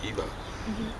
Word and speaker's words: Ava: it comes from but when you pronounce it that way that's the way you should pronounce Eva what we say Eva and that's you know like Eve and Caleb means dog